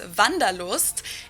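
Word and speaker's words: Wanderlust: different dialect let's see this is kind of an old-fashioned German word that we pronounce vandalos and it's literally the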